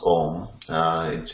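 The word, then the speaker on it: ॐ: but when we pronounce Om, it's a combination of A, Om, Mm. So is it the Ma sound or the Anuswara sound at the end? Mm. It is a Ma sound ultimately, because Om is a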